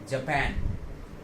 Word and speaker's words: Japan: और इस कंट्री का प्रोनाउंसिएशन जो होगा वो होगा जापान. क्या होगा? जापान. इधर जो ये TAN आ रहा है इसको हम जो बोलेंगे वो एग्जैक्टली वही बोलेंगे जो हम लिखने वाले पैन को बोलते हैं.